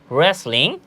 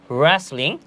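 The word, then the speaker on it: wrestling: পরবর্তীতে যদি আমরা দেখি রেসলিং রেসলিং এখানেও কিন্তু ডব্লিউ আছে বাট আমরা এটার উচ্চারণ করছি না আমরা কি বলছি রেসলিং যার অর্থ হচ্ছে কুস্তি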